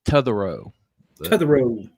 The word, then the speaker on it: Totherow: a Teo the the the t is pronounced more like Tu say too to the road you can call me